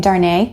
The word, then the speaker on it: Darnay: So Charles, and you pronounced his name Darnay, is that right? Emphasis on the second syllable?